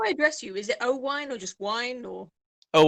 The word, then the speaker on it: Oh-Wine: i used to say you're a bar and your mate gives you a glass of wine and you say oh wine that's how you say my name oh wine do you have to